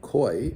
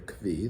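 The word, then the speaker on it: כוי: But a koi or a ki, there's a mahocus as to what the proper pronunciation of this animal is.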